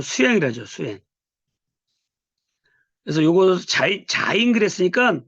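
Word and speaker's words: זַיִן: 하죠 수행 그래서 요거 자인 그랬으니까 발음은 뭐예요 지긋하고 지구 발음 이게 발음을 한번씩 해봐야지 알게 돼요 섞을요 자인 할 때 자인 날 때 맨 첫 번째 소리가 음가예요 음가 그런 모습으로 우리가 이해를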